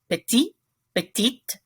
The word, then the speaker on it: petite: one in your notes you have petite when the last letter of most french words is silent so you don't hear the t in the masculine form but you hear it in the feminine form so is short it